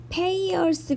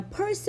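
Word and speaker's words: Peirce: 철수 쎈더 라는 사람인데요 페이 얼스 가 아니라 펄스 로 발음이 된다 고 여기 나온 내어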